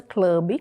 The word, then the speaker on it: Club: no Instagram, @Casa Rosa Club, casa com K e com Z, Casa Rosa Club, e o B no final é mudo, ok?